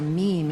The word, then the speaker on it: meme: And the reason he called it a meme is so that it would rhyme with the word gene.